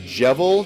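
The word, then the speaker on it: Djevel: something um also played in that Norwegian band jevel DJ that's how you pronounce it DJ e v l um which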